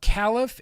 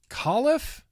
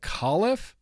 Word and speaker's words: Califf: Although I learned it's not Califf, it's Califf. Dr. Califf. It's pronounced like Califf.